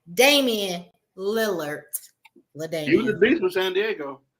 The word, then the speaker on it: Lillard: Daman Lillard Lillard okay I keep saying Leonard is Lillard I can never pronounce